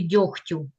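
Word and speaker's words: дёготь: також можна зробити помилку в слові дьохтю вимовте його який звук вичу чуємо х але писати треба г дьогтю дьогтю перевірний буде дьоготь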